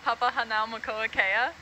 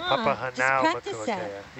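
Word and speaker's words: Papahānaumokuākea: Actually, funny little story, but me and Kukui, we're roommates, and one night I was like trying to pronounce Papa Hanau Makoa Kea, and we just kept saying it back and forth to each other until like I was getting it right.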